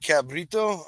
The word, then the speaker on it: cabrito: Now this is the cabrito, is how you say it, right? Yep, cabrito.